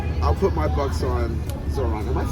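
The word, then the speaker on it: Zohran: I'll put my bucks on Zoran.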